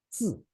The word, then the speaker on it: 字: When you pronounce the single character, we say it's 字. We pronounce 字. It has forced tone. It is forced tone, right?